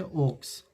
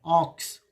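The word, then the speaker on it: ox: और यहाँ पे लिखे ओक्स, ओ एस, ऑक्स, इसे ओक्स नहीं पढ़ेंगे, ऑक्स नहीं पढ़ेंगे, ऑक्स, ऑक्स।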